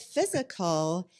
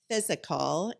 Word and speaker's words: Fyzical: 50 to 150 location type range but with physical you guys were established in 2012 and started